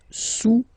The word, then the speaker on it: sous: Le cube est sous le cylindre, okay, le cube est sous le cylindre. Don't pronounce the final S, and then this OU combination of vowels is pronounced OU, okay? Sous, sous.